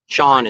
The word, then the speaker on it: Sean: Sean is pronounced. I know. I saw it. He's It's I know it's spelled different. It's like Sean Connery. To play, it's spelled that way.